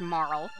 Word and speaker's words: Marle: Actually, her name should be pronounced Marle.